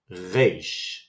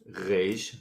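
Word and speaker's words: ריש: Okay, sounds like K, and reish. Reish sounds like R in English. English speakers pronounce Ra and Hebrew speakers Ra. Okay, so it's very difficult for English speakers to say the Israeli Reish.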